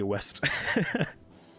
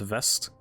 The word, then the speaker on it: West: I think it might be West. But like pronounced West, because W is like a V sound.